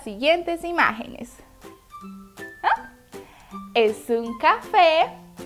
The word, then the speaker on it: café: Esta sílaba tiene una rayita de acento sobre la E. Recordemos que eso significa que debemos pronunciarla más fuerte. Así. Café.